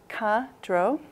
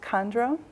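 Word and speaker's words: མཁའ་འགྲོ: So in Tibetan, dakini is ka-dro, sometimes pronounced kandro.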